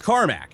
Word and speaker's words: Carmack: It's spelled Cormac, so I say Cormac. I mean, Cormac. But it's Carmack. Everybody in chats is saying Carmack. In the media, they say Carmack, apparently, for the most part.